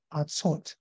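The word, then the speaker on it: ארצות: 话确实就读成 tzot artzot artzot artzot，就是把这个音用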